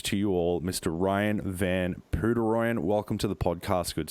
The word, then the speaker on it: Van Poederooyen: thanks CJ and uh nice job on pronouncing my name buddy did I get it right p Roy you got it you got it right man yeah I know honestly